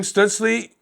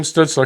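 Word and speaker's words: Stützle: good branson questionable tim stutzley stutzla excuse me tim stutzler because i'll hear about it that i said it wrong should help but i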